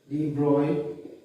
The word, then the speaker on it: de Broglie: Louis Victor de Broglie. You pronounce it as de Broglie.